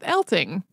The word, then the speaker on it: Eltinge: so just we're just going to go with elting I mean I understand for example my name gets mispronounced all the time but uh to me